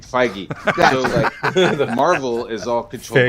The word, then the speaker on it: Feige: frigg frank holy i just butchered that name feige the marvel is all controlled by feige so